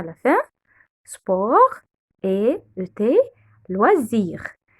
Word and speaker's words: loisirs: Sport et ET, loisirs. Le S, on prononce SZ car il vient entre deux voyelles, le I voyelle et le I voyelle.